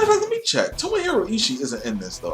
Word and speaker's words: Tomohiro: a takeshi a murashima hell yeah no tomoho tomohoro tomohiro ishii is not in this game why can